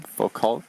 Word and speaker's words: Foucault: But one thing I've seen that I haven't heard talked about really is Foucault's pendulum. Foucault, am I pronouncing it correctly?